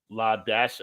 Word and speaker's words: Ladasha: First name of one of my students, pronounced La Dash. What? What is this? La Dash. Her name was Ladasha, and that's how they spelled it.